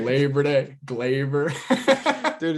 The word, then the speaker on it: Gleyber: It's Glaber. Like Labor Day, Like Labor Day. Glaber.